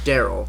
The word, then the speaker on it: Daryl: joke is it yeah his name is pronounced and spelled Daryl I'm I'm super confused now